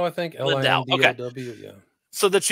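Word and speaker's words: Lindow: How do you pronounce his name? Hudson Lindau, I think. Lindau.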